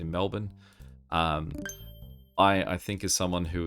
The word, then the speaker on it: Melbourne: at the way that, say, Americans may pronounce some Australian city names like Melbourne. Like they emphasize the vowels a lot more than we would, where we'd say Melbourne.